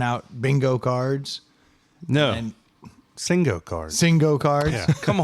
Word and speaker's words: Singo: Yo, have y'all ever heard of Singo? Not at all. So this is a thing. How do you spell it? SING-O. Oh. I don't think so. So sing-o. Yeah, it's like bingo, Yeah.